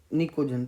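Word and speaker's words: pnictogen: हम लोग कहते हैं निकोजन। पी साइलेंट रहता है, निकोजन्स।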